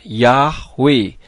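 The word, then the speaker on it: Yahweh: ada dalam huruf Ibrani yang benar adalah Yod he wau he sehingga transliterasinya menjadi ye ha W ha dibacanya yahwe huruf ha di bagian belakang tidak kedengaran pada saat dibaca dan perlu saudara ketahui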